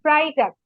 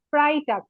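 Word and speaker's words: Freitag: ফ্রাইডে, ফ্রাইডে ma'am, ফ্রাইডেটার উচ্চারণটা একটু আরেকবার বলেন। ফ্রাইটাক, ফ্রাইটাক, ফ্রাইটাক, ফ্রাইটাক।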